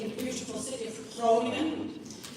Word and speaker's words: Groningen: As I said, I am from the Netherlands, where I studied sociology in the beautiful city of Groningen. I pronounce that very liberally in a Dutch way.